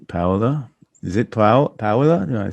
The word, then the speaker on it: Paola: Is it Paola?